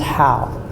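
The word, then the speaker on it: 蒿: But the plant radical is pronounced how.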